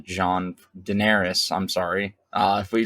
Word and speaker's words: Daenerys: books yet I think the books stopped when denar s John Daenerys I'm sorry uh if we just listen to